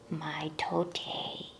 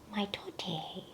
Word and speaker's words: mitote: Your whole mind is a fog, which the Toltecs called a mitote. Mitote, that's cute. It's spelled M-I-T-O-T-E, mitote.